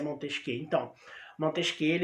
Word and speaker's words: Montesquieu: ao pé da letra se escreve né montesquieu mas se pronuncia montez que então moto isqueiro e